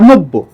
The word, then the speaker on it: নব্য: মনে করেন, এই যে সদ্য বা নব্য, আচ্ছা, নব্য শব্দটার উচ্চারণ কিরকম হবে? নব্য, এরকম। এই যে বটা দুইবার উচ্চারণ হলো, কিন্তু যদি বর্ণটা বর্গের